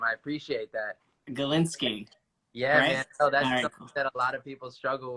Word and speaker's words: Gilinsky: just heard you I heard you learn the pronunciation of my last name I appreciate that and Galinski yeah lot of people struggle with especially when